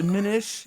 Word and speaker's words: Minish: It's Minish. Minch. Google said Minish. Well, I could be wrong. It's spelled like Finnish.